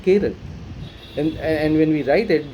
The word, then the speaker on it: Kerala: I found out that I've been pronouncing Kerala incorrectly. I know we call it Kerala and it's all over the place, but it's supposed to be Kerala.